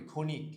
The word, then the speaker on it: ক্ষণিক: শিও যখন শব্দের শুরুতে থাকে তখন উচ্চারণটা খ এর মত হয়। ঠিক আছে? মাঝখানে থাকলেও কয় খ এর মতো হয়। শেষে থাকলেও কয় খ এর মতোই হয়। ঠিক আছে? যেমন এটার উচ্চারণ যদি আমরা করি ক্ষণিক। এটার উচ্চারণ কি হবে? খনিক। ঠিক আছে?